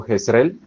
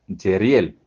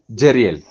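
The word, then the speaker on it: Jezreel: Aquí el nombre que continuamente hemos pronunciado como Jesrel, en verdad se pronuncia Jeriel.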